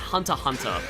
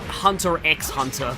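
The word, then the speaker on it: Hunter × Hunter: Apparently, it's pronounced Hunter Hunter, not Hunter X Hunter, but like I always say it Hunter X Hunter.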